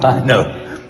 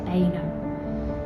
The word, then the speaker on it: Beuno: I see you are pronouncing Saint Beuno properly, whereas I got it wrong calling him Saint Beuno, but That's what I started with, Father.